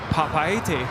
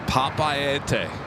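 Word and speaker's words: Papeete: And it's Papaete. Papaete. Papaete.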